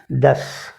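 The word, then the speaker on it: दस: நவ் என்று சொல்லணும் ஒன்பதுக்கு அடுத்து 10-க்கு 10 என்கிறதுக்கு தஸ் தஸ் தஸ் என்று சொல்லணும் இந்த உச்சரிப்புகள் எல்லாம் கச்சிதமா கிடைக்கணும் தோ என்கிறதுக்கும் தஸ் என்கிறதுக்கும்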